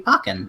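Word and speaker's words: Pokkén: the switch and it's not just gonna be pokken which I know is officially pronounced pokin but I'm gonna continue saying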